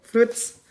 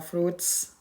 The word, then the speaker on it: fruits: Oke, fruits. Ini bacanya jangan dibaca fruit ya, fruits. Ya, ini kata benda ya, sudah jelas nih fix bukan manusia, bukan merujuk pada tempat, bukan merujuk pada waktu.